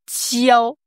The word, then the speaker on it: 焦: Ce caractère, réchauffeur, en chinois, c'est jiao. Tiao. Jiao. Premier ton. Pour moi, le plus simple pour le prononcer, c'est de mettre un D devant, en fait.